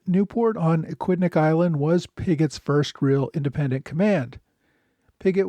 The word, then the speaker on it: Pigot: And while I'm at it, I, in some earlier episodes, mispronounced General Robert Pigot's last name as Pigot, which is the French pronunciation. Since the family's been living in Britain for several generations, it's become Pigot, and I should have known that.